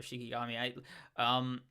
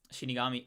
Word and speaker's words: Shikigami: I don't think he's as mindless as the other Shikigami. Shinigami, like Shikigami. No, I said it right the first time.